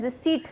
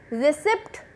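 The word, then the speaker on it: receipt: दूसरा होता है जब आप कभी जाते हो, आपको वो लोग बिल और जैसा देते हैं, रिसीट देते हैं. रिसिप्ट नहीं देते, पी इज साइलेंट.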